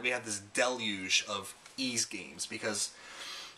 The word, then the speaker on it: Ys: have this deluge of ease games because it's just fantastic and of course back in the day like everyone i called it wise because it's y s but it's actually pronounced ease and uh ease is